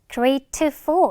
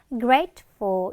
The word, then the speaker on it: grateful: 자, 세 번째는 grateful, 감사하는 이란 뜻인데 자, 중간에 트 발음을 grateful 이렇게 할 필요 없어. 원래 이 트하고 드가 어떤 공통점이 있냐면 끝에서는 약하게 들리거나 탈락이 되고요. 가운데서 마찬가지로 이 트 발음이나 드 발음 좀 약화가 많이 돼요. 그래서 grateful 이런 느낌으로 발음해주면 되겠습니다.